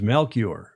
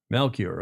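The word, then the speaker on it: Melchior: And Gordon says that pronunciation of the Danish entry's name, the skipper's name is Melcure. Melcure. Okay. Thank Mel C H I O R from memory. Melcure.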